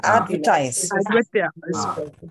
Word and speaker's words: advertise: Accent on the first syllable? Yes, doctor. Doctor. Yes. Doctor. Again? Wisdom. Doctor. Wisdom. Yes. Advertise.